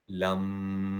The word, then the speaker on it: लं: आइए कुछ समझते हैं, जैसे कि मूलाधार चक्र का जो मंत्र है वो है लम, पर इसका प्रोनाउंसिएशन इस तरह किया जाता है, लम।